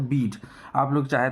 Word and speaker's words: Bede: बहुत लोग इसका प्रोनाउंसिएशन जो करते हैं वो बेदे, जो कि ना गलत प्रोनाउंसिएशन है। एग्जैक्ट प्रोनाउंसिएशन इसका होता है बीड।